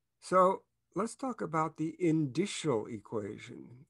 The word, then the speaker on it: indicial: let's talk about the indicial equation indicial rhymes with initial so you may be